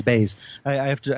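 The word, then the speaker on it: Baze: um baz m b baz I I have to I remember it rhymes with blaze that's it that they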